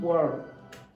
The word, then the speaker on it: world: Okay, listen to the way Wendy pronounces the last word. Changing world. Did you hear a D? No.